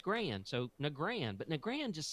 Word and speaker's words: Nagrand: when one of the Bliss cones called it Nagrand and I'm like well he created it therefore I must pronounce it the way he did because that's